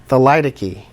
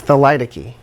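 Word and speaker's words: thelytoky: that's called Salida key Salida key is how you pronounce that word Salida key the light a key I didn't know how to pronounce it for a decade it's the light a key and it's a trait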